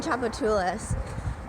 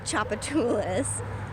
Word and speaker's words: Tchoupitoulas: it at all because it starts with a T and it's called Tchoupitoulas so yeah there's actually